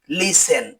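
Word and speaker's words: listen: এল আই এস টিই এন এর উচ্চারণ লিসেন হবে না। এর উচ্চারণ হবে লিসেন যার অর্থ হল শোনা। সি এ এস টি এল ই এর উচ্চারণ ক্যাস্টেল হবে না।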